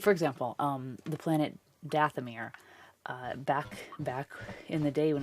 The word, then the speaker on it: Dathomir: ever written, and so I always learned it as Dathomir. So of course when it came up in the Clone Wars as Dathomir, it sounded so foreign, just like Twi'leks.